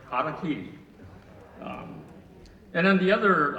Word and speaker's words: Harakiri: the first one is I've heard the mispronunciation of the title haraki so uh maybe all of you have heard that mispronunciation too as Harry carry so from here on everybody here's got to pronounce it correctly Kaki um and then the